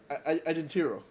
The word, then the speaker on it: Agentero: Did I think I got Agentero. Agentero. Agentero. Okay, so for the Like listeners, agent, like an agent. Agent Hero.